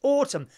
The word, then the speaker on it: autumn: autumn why is that who put the N on the end of autumn no autumn autumn nut you can't say it Kenya autumn you can't say autumn with an N on it can you cut you